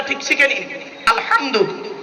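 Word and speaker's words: الحمد: কথা বলেন আমার সাথে আলহামদুলিল্লাহি রাব্বিল আলামিন আলহামদু উচ্চারণটা ঠিক শিখে নিন আলহামদু আলহামদু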